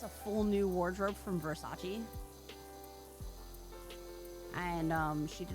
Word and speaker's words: Versace: You've seen Versace. It's pronounced Versace.